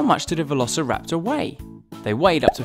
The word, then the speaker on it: Velociraptor: let's learn all about Velociraptor how do you say that again ver la see rap sir sometimes they were just